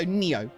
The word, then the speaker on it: Neo: Oh, it's pronounced almost like Nero. So Neo. Neo.